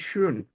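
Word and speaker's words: schön: meaning অন্যরকম হয়ে যাবে এটার উপর যদি উমলা উঠ না থাকতো তার মানে হলো অলরেডি আর এটার উপর যেমন উমলা উঠ থাকে সুন যদি আমি বলি সুন তাহলে হবে বিউটিফুল আমি যদি বলি শোন তাহলে হবে অলরেডি যেমন ইশাবেন ডয়েজ কেন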